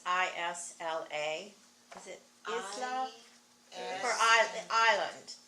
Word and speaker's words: isla: how do you pronounce ISLA?